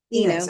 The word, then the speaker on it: Enos: Is that how you pronounce that correctly? Enos. Enos.